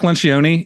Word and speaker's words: Lencioni: Is that how you pronounce his name? Patrick Lencioni.